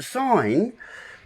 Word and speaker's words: sign: See, sign, let me just get a pen. Sign, S-I-G-N, okay? You've got S-I-G-N. But the G is silent.